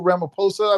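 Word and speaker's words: Ramaphosa: where the uh South African president uh Sirill Ramaposa I believe is the way is pronounced uh was in the White House supposedly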